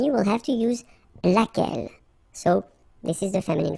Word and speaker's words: laquelle: singular, we saw it laquelle, okay, so basically same rule, Q-U, U is not pronounced here, and then you